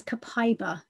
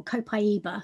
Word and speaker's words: copaiba: the sleep oils is copaiba or copaiba depending on how you pronounce it this is you